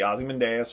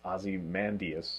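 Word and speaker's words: Ozymandias: year ago is the ozy menas one yes although see I'm not even saying it right it's Azie mandas yes it's Azie mandas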